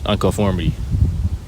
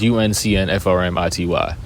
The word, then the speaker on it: Unconformity: It's UNCNFRMITY. Unconformity. Conformity with an un in front of it. It's simple. Nothing too crazy. It's spelled weird, but it's simple to pronounce.